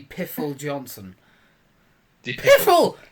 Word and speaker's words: Pfeffel: Did- Piffle. I think it's Peffel. If that's Pfeffel, that's even worse. I don't think you pronounce that.